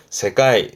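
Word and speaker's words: 世界: 발음은 세가이.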